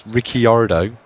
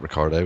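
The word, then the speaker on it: Ricciardo: Su suel I'm having a nightmare Gutierrez Gutierrez rickardo not Ricardo it's riardo Mardo uh Mardo um Bas um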